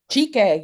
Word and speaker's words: Chike: And Miss, let me know if I'm pronouncing the actor, your lead character, your lead actor. Is it Chike? Chike, yeah.